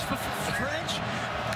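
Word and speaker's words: Ffrench: pronunciations, and you go, is it to French? The first F is silent.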